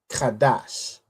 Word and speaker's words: Qadash: Then we have have a da and a sha joined together to make dash. So this is how we get kadash.